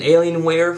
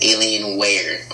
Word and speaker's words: Alienware: You said Alienware, like you broke the words up. Usually we just say Alienware.